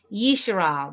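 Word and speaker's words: ישראל: Yisrael, this is the correct way to pronounce Israel, the word Israel, and you could reference it right here.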